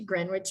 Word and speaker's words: Greenwich: Greenwich is notable for its maritime history and for giving its name to Greenwich Meridian. The W is silent, Greenwich.